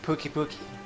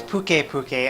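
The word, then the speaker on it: Pukei-Pukei: now but with a nun with pissed off Pooky Pooky its bouquet bouquet and I'm just messing up the pronunciation sounds Hawaiian once the camp is set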